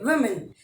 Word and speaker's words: women: ठीक है, जो W का जो प्रोनाउंसिएशन है that becomes we, विमेन. We main भी नहीं, विमेन.